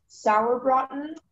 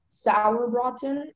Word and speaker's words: Sauerbraten: It can be pronounced sauerbraten, sauerbraten, or sauerbraten.